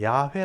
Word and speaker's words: 야훼: 사람이 주로 만든 바람이고 학자들은 얘기할 때 야훼 라고 발음하는 게 맞다고 그렇게 이제 주장을 하게